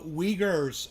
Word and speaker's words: Uyghurs: people called the leaguers the uyghurs okay so that is how you pronounce that the uyghurs and they are where's